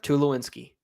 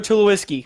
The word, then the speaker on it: Tulsky: say it than there's no n in my last name but that's right and the winner is tulsky see if he doesn't